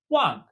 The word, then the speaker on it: 忘: So pronounced very similarly to our base character, but with a falling tone. This character means to forget or to leave behind. Wang.